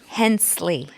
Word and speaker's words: Hensley: I want to settle the debate on how your last name is pronounced. Hensley.